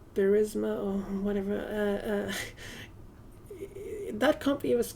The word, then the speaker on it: Burisma: What I'm saying is, investigating the company, the Burisma company, how do you pronounce it? Burisma? Yeah, Burisma.